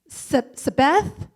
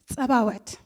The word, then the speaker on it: Tzabaot: How do you say it again? Sabeth? Sabaoth? Saboth? Sabout? And I would just stop them and say, Tzabaot.